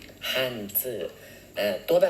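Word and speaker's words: 汉字: อักษร จีน นะ ฮะ หรือ ภาษา จีน เขา จะ ออก เสียง กัน ว่า ฮั่นจื้อ ฮั่นจื้อ อ่า ตัว แบบ เ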